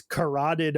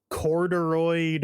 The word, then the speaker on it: carotid: And one of the first things he does is check his carotid artery, Oh god. but the guy pronounces it as corduroid artery.